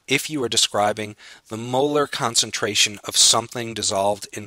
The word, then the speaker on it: molar: by chemists and biologists, it's not actually spoken 0.5 molarity, although many beginning students want to describe it that way. It's actually pronounced 0.5 molar.